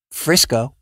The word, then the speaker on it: Frisco: to, here it comes, Frisco. Frisco rhymes with Crisco, and Frisco is in Texas, and I'm sure that they don't want to be confused with the West Coast variant.